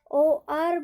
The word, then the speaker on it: hour: यहाँ पर HOUR में भी हम OR बोलते हैं, OR, ओ से साउंड होता है ना कि एस से, OR, घंटा।